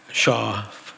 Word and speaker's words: Schaaf: Schaaf, I watch, is that the one? I'm pronouncing it right? Yeah. Shaw. She's Shaw. Yeah.